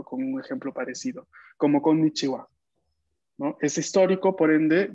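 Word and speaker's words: こんにちは: Pero actualmente la sílaba que escribimos es ha al final. Y en algunos casos, como en los saludos, se va a pronunciar wa.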